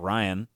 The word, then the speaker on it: Rian: I think it's just Ryan. Ryan Johnson? Well, it's spelled like Rian.